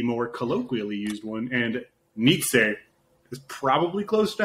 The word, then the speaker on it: Nietzsche: oh i don't know i always thought was pronounced completely wrong then i thought it was like basically pronounced like not that it's spelled this way but like n-i-c-h-e like nietzsche yeah sure but i